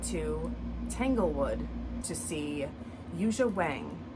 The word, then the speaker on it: Wang: Tanglewood to see Yuja Wang. I think everyone says Yuja Wang, but I think actually it's pronounced Wang. But that's just how everybody says it.